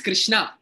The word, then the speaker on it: Krishna: he says no my name is Jose uh pronounce it as Jose so similarly it's Krishna it's not Kina it's not H it's h so proper pronunciation